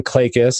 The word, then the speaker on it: Klages: it I want to introduce clay clay kiss having is how you said I pronounce it and I apologize if I just